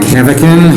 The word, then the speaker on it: Heavican: My name is Mike Heavican. Heavican is spelled H-E-A-V-I-C-A-N, and I am the Chief Justice of the Nebraska Supreme Court.